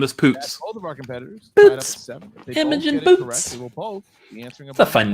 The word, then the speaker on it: Poots: and it should be her last name is poots of our competitors the fun name what walt